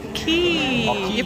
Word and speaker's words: Quay: It's Quay. Oh, Quay. You pronounce it as Quay.